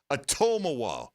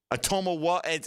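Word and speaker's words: Otomewo: And the syllable you stress in the second name is toe, the second syllable. So it's like Atomawa. Atomawa.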